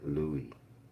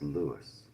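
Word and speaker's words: Louis: You'll see it spelled Robert Louie Stevenson, but it was pronounced in his day and still today it's pronounced Lewis.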